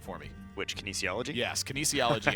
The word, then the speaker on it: kinesiology: Yes, kinesiology. I always want to say kinesthesiology just when I look at it.